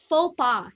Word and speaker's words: faux pas: great freedom comes responsibility faux pas condition fast guys huh silent eggs silent s so faux pas it is a French word and it means an